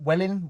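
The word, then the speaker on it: Welwyn: how you pronounce it everybody everybody says it's like wet welling well in garden city but anyway yeah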